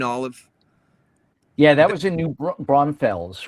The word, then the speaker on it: New Braunfels: Yeah, that was in New Braunfels, right? Is that how you say it? New Braunfels.